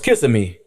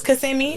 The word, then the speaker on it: Kissimmee: Oh, I thought that was kissing me. I've been saying it wrong all this time. I don't know how you say it. So my clients don't never just. It's Kissimmee.